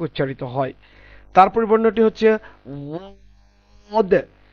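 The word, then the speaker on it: ض: তারপর বর্ণটি হচ্ছে ওয়াদ। জিহ্বার একটা সাইড, ডান সাইড অথবা বাম সাইড আমাদের দাঁতের গোড়া স্পর্শ হবে, সেখান থেকে ওয়াদ উচ্চারণ হবে।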